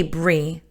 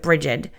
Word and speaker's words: Brigid: And I say Bri, but it's spelled Brigid. So a lot of people pronounce it Brigid. So I don't want to confuse you, but I do call her Bri. That is the pronunciation that I've always known.